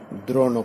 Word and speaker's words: দ্রোণ: দ্রোণ শব্দটিকে লক্ষ্য করবেন, এর উচ্চারণ দ্রোণ নয়। অনেকে আমাকে জিজ্ঞেস করেছেন উচ্চারণের, এই দ্রোণ শব্দের অনেকে দ্রোণ বলে। যেমন রণ কথাটা হয় না রণ, রণনীতি মূর্ধন্য, রণনীতি, তেমনি দ্রোণ, দ্রোণ, দ্রোণ পর্ব, দ্রোণ দয়ের ফলা ওকার মূর্ধন্য, দ্রোণ, রণ, দ্রোণ।